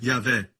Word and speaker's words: Yahweh: Yud, Rei, Vav, Rei. Pronunciado como Yahvé.